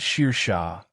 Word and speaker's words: Saoirse: She said it Sheer Shah.